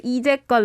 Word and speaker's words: 이제껏: Maybe we should pronounce 이제껏 like 어제껏.